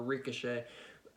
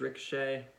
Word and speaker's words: Ricochet: him become victorious over ricochet at SummerSlam but I think ricochet is gonna win I don't know why I'm pronouncing like Rico che it's ricochet what am i doing